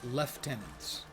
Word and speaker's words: lieutenant: of these guys need lieutenants or left tenants if you like the British pronunciation better that's an ailer that's